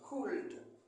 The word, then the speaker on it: could: Could. Mais le L ne se prononce pas.